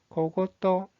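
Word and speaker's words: 小言: 잔소리라는 뜻을 가지고 있는 이 한자의 발음은 고고또, 고고또.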